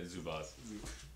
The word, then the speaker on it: Zubac: Yeah, Zubac. Zubac. That's how it's pronounced. They got the little tilde over the C.